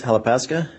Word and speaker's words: Halepaska: morning can you please state your name and spell it for the record uh halapaska that's d-o-u-g-l-a-s-h-a-l-e-p-a-s-k-a thank you where are you currently